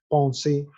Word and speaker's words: penser: los del primer grupo, la última R no se pronuncia en el infinitivo, es decir, por ejemplo, cantar, pensar, es chanter, penser, a pesar de que tiene una R, no se dice es muda.